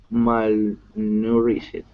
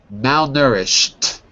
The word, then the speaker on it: malnourished: food to feed all the people who are malnourished. Wait a second. You said that correctly before. Listen again. Malnourished.